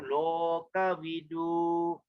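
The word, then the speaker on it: Lokavidū: And then long U, like we say, O is always long, Lo, okay, don't forget to drag your lo there. O is always long. Loka vidu. Okay, U is a long U there. Loka vidu.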